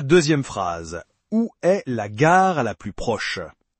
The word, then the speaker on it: gare: Et n'oubliez pas le R français dans Gar. Ce n'est pas un Roulé comme en espagnol ou un R anglais. C'est comment l'expliquer ? C'est un son qui vient de la gorge comme si vous gargarisiez légèrement. Essayez de dire gare en gardant la langue en bas sans la faire vibrer.